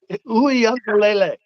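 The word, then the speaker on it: Uiagalelei: Uiagalele.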